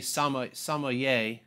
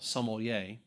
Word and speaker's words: sommelier: everybody welcome to sommelier school and i used to say sama samaye or something like that now i actually pronounce the l sommelier here on leap wine